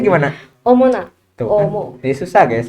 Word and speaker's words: 어머나: Jadi tapi dibacanya gimana? Omona.